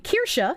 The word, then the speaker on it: Kirsche: My name Kirsche is pronounced like Kirsche, but if you're pronouncing it like an American, most Americans just say Kirsche, and Kirsche kind of sounds like cursed.